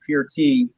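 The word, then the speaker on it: Peart: neil and as we all call him neil pert uh his last name is actually pronounced pure tea and they actually made uh the beer it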